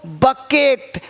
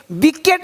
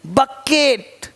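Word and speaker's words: bucket: देखो बकेट, विकेट नहीं बोलते, BC नहीं, बकेट।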